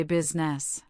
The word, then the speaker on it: business: In business, the I is silent. We say business.